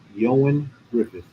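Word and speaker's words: Ioan Gruffudd: And for those of you wondering, Reed Richards, the actor's name is pronounced Yoan Griffith.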